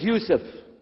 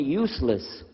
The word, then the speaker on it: Yusuf: work on it inah my name is Yousef did you say Yousef said Yousef you're very good I wish you teach my wife she keeps mispronouncing it she calls me useless alhamdulillah now how many